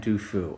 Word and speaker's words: Du Fu: So today we're going to be going over some of the poetry of Bai and Du Fu, and they are pronounced that way, but they've been translated or